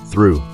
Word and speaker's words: through: Through. It's spelled T-H-R-O-U-G-H, but pronounced like through.